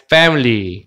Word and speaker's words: family: There are four people in my family. 그죠? family야. 이거 발음도 F 사운드야. 조심해야 돼. P로 발음하면 안 됩니다.